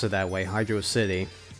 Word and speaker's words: Hydrocity: pronounced it that way hydrocity well actually it's not they don't make it into a separate word they make it into one word so it leads us to believe that it's hydra hydra city I don't know I just I've always pronounced it as hydro city so I'm gonna continue to keep calling it that you can you can